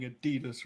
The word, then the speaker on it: Adidas: Coming at me with saying Adidas wrong.